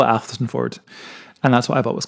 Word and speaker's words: Athelstaneford: It's too many letters, too long a word. It's just pronounced Athelstan Ford. You're doing very well in pronouncing it. Thank you. Some people say Elsonford, but I've never heard